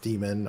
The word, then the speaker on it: daemon: Daemon being pronounced demon, archaeologist being pronounced archaeologist.